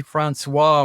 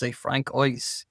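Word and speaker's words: François: We say Francois. We don't say Francois.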